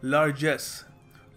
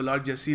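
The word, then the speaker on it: largest: करते होंगे सोचिए देखिए इसको सही तरीका प्रोनाउंस करने का लार्जेस्ट लार्जेस्ट इसको मैंने एक दो बार एक बार किसी सेमिनार में लोगों को लार्जेस्ट बोलते हुए भी देखा हुआ है सो लार्सी नहीं है लार्जेस्ट है ये ठीक है अच्छा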